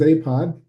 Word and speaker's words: APOD: of all what is apod as I we call it a there's no T we don't pronounce the T because it doesn't doesn't sound right so you can get there by typing apod nasa.gov we started at